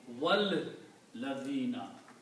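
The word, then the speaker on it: والذين: And also when you put a vav before that, then you do not pronounce this alif. You combine vav with the lam. Wal ladhina.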